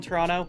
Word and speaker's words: Toronto: Like, if you're not from Toronto, you'll say Toronto like that. But if you are from Toronto, you pronounce an N instead of the second T.